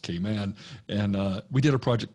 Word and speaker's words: Cayman: As a Southerner, I call it Cayman, but it's really pronounced Cayman.